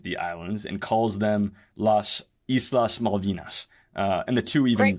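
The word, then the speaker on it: Las Islas Malvinas: has also claimed the islands and calls them Las Islas maldinas uh and the two even great pronunciation thank you very much that's uh shout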